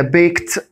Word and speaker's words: baked: احنا قلنا يا جماعة بعد ك sound الاي دي بتنطق ت، فعشان كده لازم اقول انا baked potato.